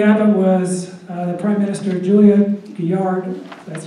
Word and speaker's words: Julia Gillard: Before Tony Abbott was the Prime Minister, Julia Gillard, that's how you pronounce her name, she installed a carbon tax in Australia of $15 per ton.